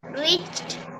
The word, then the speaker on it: reached: Again, that E is not pronounced.